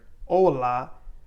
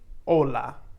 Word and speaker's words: hola: want to remember that the h in spanish is always silent so it will not have any sound when you are pronouncing it so for example if we are saying the word hola that actually has the